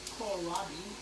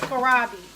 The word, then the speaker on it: kohlrabi: What pronounce that? Called. Which one? That right there. Oh, kohlrabi. Kohlrabi? Okay, well, it's kohlrabi.